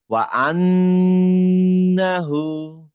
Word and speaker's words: وأنه: وأنه না এটা আং হবে না। এটা নুনের উচ্চারণ أن নুনই হবে যেহেতু এটা সাদ্দা। ওয়া আন্নাহু।